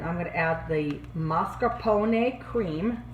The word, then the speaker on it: mascarpone: going to add the mascarpone cream say with me ma scarpone is pronounced a in italian and a is pronounced ah all right now i'm